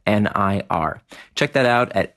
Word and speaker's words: Nir: nearandfar and you want to enter in the discount code near and far now remember near is spelled like my first name nir check that out at